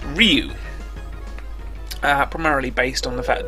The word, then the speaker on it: Ryu: oh yeah, who both agree that it is pronounced Ryu, primarily based on the fact that it's Ryu throughout the entire animated movie, which is, I think, a fair enough observation and line of reasoning. So, Ryu it is.